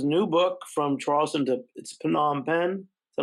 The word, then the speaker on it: Phnom Penh: Please go check out his new book, From Charleston to Phnom Penh. Is that how you pronounce it? Yeah, Phnom Penh.